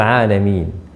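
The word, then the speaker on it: العالمين: Misalnya kayak Alhamdulillahirabbil alamin, itu pakai ain, alamin itu alam. Ketika kita baca tidak pakai ain, itu sering kejadian.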